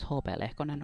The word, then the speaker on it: HP Lehkonen: Hello, my name is HP Lehkonen or HP Lehkonen. I just always pronounce it the Finnish way, HP.